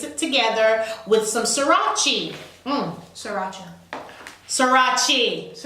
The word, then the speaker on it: Sriracha: Sriracha. Sriracha. It's pronounced sriracha.